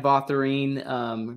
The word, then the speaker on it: Botherine: Right under my name right here, at Botherine. Rhymes with tangerine.